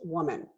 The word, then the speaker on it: woman: is for woman only remember how to pronounce those en is pronounced women such a weird word and a n is pronounced woman so are we talking